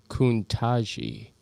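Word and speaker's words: Ketanji: Diane said it's pronounced Kuntaji.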